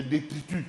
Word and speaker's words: détritus: de de détritus de détritus non le S ne se prononce pas.